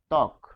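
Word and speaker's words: ত্বক: ফলে শুরুতে আমরা পাচ্ছি বফলা এবং এটির উচ্চারণ হবে তক। উচ্চারণ কি হবে? তক। ফলে এখানে আমরা দেখতে পাচ্ছি বফলার কোন উচ্চারণে কোন অস্তিত্ব নাই।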